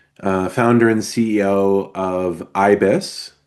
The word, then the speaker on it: YBYS: I'm the uh founder and CEO of IBIS, which is spelled YB YS.